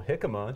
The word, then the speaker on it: jicama: And then I tried a new vegetable, jicama. Shout out to jicama, I'm a fan.